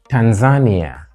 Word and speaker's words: Tanzania: what is it called what you have is primary secondary stress on the first syllable and then we have this so that is Tanzania tan Ania with a stress on the third syllable Tanzania not Tanzania or